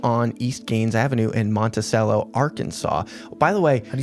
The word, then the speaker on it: Monticello: It's Monticello. I heard them pronounce it, and I was like, ew.